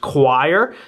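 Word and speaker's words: coir: quality doormat super thick I believe the material here is pronounced choir c-o-i-r and overall these things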